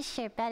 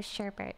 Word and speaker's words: sherbet: Then it goes to sherbet instead of sherbert, right?